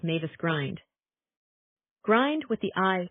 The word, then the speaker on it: Mavis Grind: only by the narrow bridge of land called Mavis Grind. Grind with the I pronounced as in in means a gate.